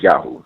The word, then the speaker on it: Yahu: Am I pronouncing this right? Is Yahoo right? Yep, yeah, it's Yahoo.